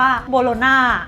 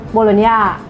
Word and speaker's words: Bologna: อย่าง นี้ ใช่ มะ ว่า คน ไทย มา อ่อน เสียง ว่า โบโลน่า แต่ คน อิตาเลียน แท้ ๆ เขา จะ ออก เสียง ว่า อะไร อ่ะ ทำไม มี ตัว จี เมล์ น่ะ เป็น ไร ไม่ ได้ โดน น่ะ โบโลน โบโลน โบ โลญญ่า bologna รุ่น ย่า ลา ซาน